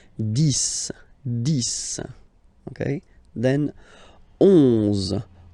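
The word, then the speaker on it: dix: 10. Okay, so remember, final X here is pronounced like S. 10.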